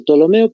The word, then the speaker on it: Ptolomeo: Entonces, PT, Ptolomeo, más o menos así sonaría, ¿no? Ptolomeo. Se pronuncia directamente Ptolomeo, pero se escribe con la P.